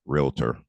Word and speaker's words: realtor: estate agents to know the right pronunciation is realtor so that's that's you you'll